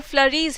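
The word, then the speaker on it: Fleury: तो अब George फ्लरी, pronunciation is फ्लरी नॉट फ्लूरी, तो जॉर्ज फ्लरी और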